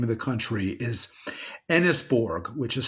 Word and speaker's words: Enysbourg: And the reason I pointed out the name of the country is Enisborg, which is spelled Enysbourg, is a name which is compiled from Empire, New York State, Borg.